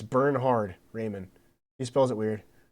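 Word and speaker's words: Bernhard: It's burn hard.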